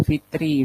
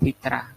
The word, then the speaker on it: zakatul fitri: Kalau beras itu zakat fitrah itu zakatul fitri bacanya itu fitri bukan fitrah. Kalau fitrah itu ada ta marbutah di belakangnya.